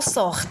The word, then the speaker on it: sort: Il s'en sort, t'es muet.